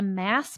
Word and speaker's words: MASS: It's called the mass method, marketing as a system. Rhymes with SAS.